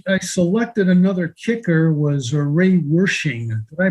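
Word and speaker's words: Ray Wersching: and the reason i selected another kicker was array worshiping did i pronounce that correctly yes i believe you did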